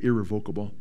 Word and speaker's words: irrevocable: I like to say irrevocable. That's not the pronunciation. It's irrevocable, but it sounds so much better.